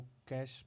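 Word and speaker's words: cache: Browser वगैरह में आपने देखा होगा, इसको हम कैश बोलते हैं। जो हम पैसे का जो लेन देन वाला कैश है, बिल्कुल उसी के जैसे इसका प्रोनाउंसिएशन है। इसको कैश बोला जाता है, कैश मेमोरी करके आपने इसको पढ़ा होगा।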